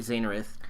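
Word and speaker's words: Xenith: comment from our buddy zenith and that that's spelled with a nets and said with a Z and his main thing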